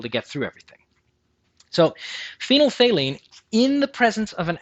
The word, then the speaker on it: phenolphthalein: Do you think you know how to say it? Could you guess? Could you try? It's called phenolphthalein.